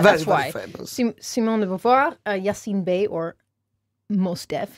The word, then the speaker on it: de Beauvoir: We have chosen as number 1 Simone de Beauvoir.